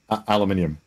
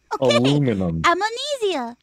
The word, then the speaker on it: aluminium: aluminum uh no it's not it's literally spelt aluminium okay i'm on easier no no no you